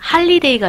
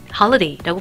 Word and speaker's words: holiday: 자, 이 단어도 holiday가 아니라 holiday라고 발음을 하고요.